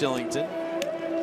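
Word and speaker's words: Kylington: Shillington picks up the goal. Look at the numbers there. 4-game point scoring streak, 8 assists already, and 3 goals. And yes, it is pronounced Shillington.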